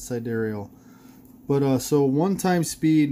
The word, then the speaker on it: sidereal: side aerial you know I don't know how to pronounce that word sidereal side aerial so Jerry okay iseman says its side aerial but so one time